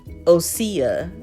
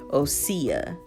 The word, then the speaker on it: OSEA: film that one um who else has always questioned how you pronounce this brand right here so osia I don't know how I was saying it but now this came from their Instagram page so make sure you're following them on Instagram but now I know the correct way to pronounce it osea so yeah but I